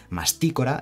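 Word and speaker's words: Mastícora: dejado en inglés vale masticora lleva tilde en la i y es una palabra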